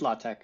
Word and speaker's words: LaTeX: in in uh latch is it latek I always thought it was latch it's latch but I mean like no one pronounces it right I mean we just